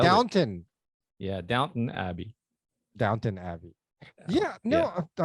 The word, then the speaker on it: Downton Abbey: Although I loved like Downton Abbey, you know. Um, yeah, just thought I'd What's it throw that called? in there. Is it Downtown Abbey?